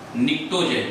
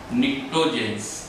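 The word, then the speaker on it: pnictogen: जाता है, are commonly known as निक्टोजेन। इसमें पी साइलेंट है, निक्टोजेंस, और निक्टोजेन वर्ड का मतलब होता है poisonous substance, okay?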